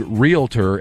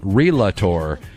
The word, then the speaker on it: realtor: Minnesota and lastly Marcus repeatedly mispronounced the registered trademark word realtor as realtor that incidentally is one